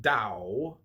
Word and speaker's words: Tao: The word Tao, properly pronounced Dow, has lent its name to a way of understanding and living in world with profound implications for modern societies.